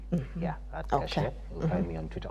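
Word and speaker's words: Gache: So um one uh on social media you can reach me at on Twitter it's gash uh you can spell that for us please g a c h e yeah gash you find me on Twitter or x sorry x as they say nowadays.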